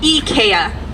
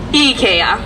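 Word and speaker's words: IKEA: love Swedish furniture and eeka is actually how you say it in Sweden eeka all right we couldn't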